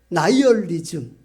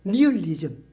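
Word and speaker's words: nihilism: 나이얼리즘. 우리 옛날 시골에서는 영어식 발음을 잘 몰라 가지고 니얼리즘 이렇게 배웠죠. 나이얼리즘입니다.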